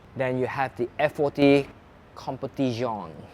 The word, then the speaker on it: Competizione: Then you have the F40 Competizione. Uh that's how you pronounce it in Italian.